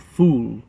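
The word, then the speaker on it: ful: middle eastern disc called fool f-o-u-f-o-u-l like foul but they pronounce and it's one of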